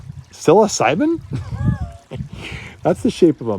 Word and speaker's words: psilocybin: You pronounce it sill. The P is silent. I, B, syllab. Maybe that's not how you spell it. Psilocybin?